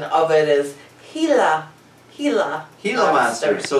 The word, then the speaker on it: Gila: different word for it what is it actual pronunciation of it is gila he's a monster so it's a giant helaman